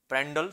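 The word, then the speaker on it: Prandtl: है एल प्रेंड प्र डट बट टी इसमें साइलेंट होता है ठीक है पेंडल थ्योरी जो कि जनक है जनक मतलब जो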